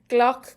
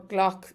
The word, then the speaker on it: glac: Gloch goree or gloch gorege. And gloch is the verb to accept. Gloch goree. Gloch like clock, goree.